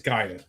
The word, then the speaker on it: Gaia: Oh, you mean Guy? It's Gaia.